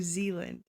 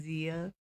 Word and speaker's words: Zealand: New Zealand. Yeah. Okay. I think because I know it's spelled ZEA and I want to like pronounce it Zia. It's New Zealand.